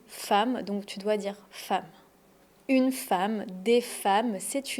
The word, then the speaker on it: femme: En fait, on dit pas f, on dit femme. Le son a une femme, pas une fème.